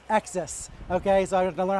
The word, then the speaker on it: XS: one called the XS it's like tennis XS okay so I don't